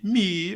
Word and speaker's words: Mee: Mi, ouvinte, se escreve assim, M-E-E. Mi, olha que sonoridade bonita.